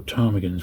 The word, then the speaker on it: Ptarmigans: series of puzzle books called Ptarmigans, or Ptarmigans with a silent P, and they did a couple of series of those, of which I've got them all.